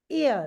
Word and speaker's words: ihr: And this IHR, the last one IHR, this is pronounced like the English word YEAR. How do we pronounce YEAR? Ear.